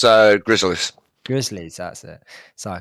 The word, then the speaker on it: Gryzzlyz: And I'm not too sure how to pronounce this new Hunter player we're seeing for the for what's their name? It's Gryzzlyz.